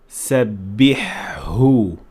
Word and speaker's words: سبحه: But make sure to pronounce the ha and ha clearly by saying سبحه سبحه, and in context is going to sound like this.